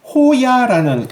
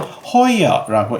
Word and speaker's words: Hoyer: 그런데 이 이 호여 같은 경우 우리나라에서 왜인지는 모르겠지만 호야라는 이름으로 잘못 통용이 되고 있는 것 같아요. 아무리 제가 봐도 이건 허야라고 읽는데 왜 호야라는 이름으로 이렇게 이름이 잘못 전용되었는지는 모르겠어요.